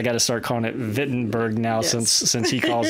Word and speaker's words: Wittenberg: the podcast today the wittenberg or as he was pronouncing it I Berg the German pronunciation so I guess I got to start calling it fittin Berg now since since he